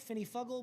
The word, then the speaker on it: finifugal: The word is Finny Fugel. Ah, that's right up my alley. It's made for our guy Doug. Finny Fugel. It could be pronounced Fuggle, Finny Fuggle, but I like Fugel.